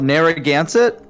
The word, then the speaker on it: Narragansett: it's called Narragansett. It took me multiple times to learn how to pronounce that correctly.